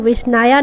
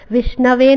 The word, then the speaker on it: विष्णवे: जॾहिं वठे थो त हू विष्णाया नमः चए थो इंस्टेड ऑफ करेक्ट विष्णवे नमः।